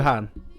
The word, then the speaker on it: Wuhan: Wuhan?